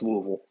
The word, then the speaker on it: Louisville: Louisville by the way that is the correct way to pronounce Louisville my wife is from Kentucky she corrected me after all these years saying Louisville so you guys can get on it Louisville it was good